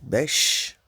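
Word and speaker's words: beş: uch, le 4, dot, le 5, ça se lit besh, le A, le 6 plutôt, alt, alt, alt.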